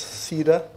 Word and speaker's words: CEDAR: this thing for me I'll simply say it's Cedar because when you go and Ogle this thing on Google it says it is a tree of life so therefore this is